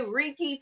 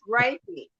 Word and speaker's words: Reiki: I'm ter about words is it riy or recky you know what I used to say Ricky too I be like Ricky it's raiky it's Rey okay let me get that